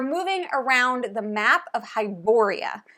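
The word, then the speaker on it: Hyboria: around the map of hiboria I'm pretty sure that's how you pronounce it I don't know how else you would but hiboria okay there's a bunch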